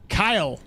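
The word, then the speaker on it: Caio: It's like Kyle. It's like Kyle from Brazil. So, so is like Kyle.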